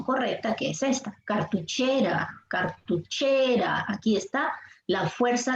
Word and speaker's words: cartuchera: Tenemos, por ejemplo, aquí la palabra cartuchera. Cartuchera. La fuerza de voz está en la sílaba. Muy bien. Así es. En la sílaba. ¿Sí? ¿Todos coinciden? ¿Sílaba che? ¿Sí? Sí. Cartuché, grave.